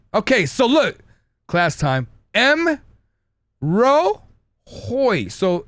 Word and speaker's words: M'Rohoj: so look class time M Ro Hoy so it's the the ending that we get confused so Hoy so just pretend that the J is pronounced as a I okay so it's m